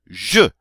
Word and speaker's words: je: All right, in English we would say I, but in French we say je.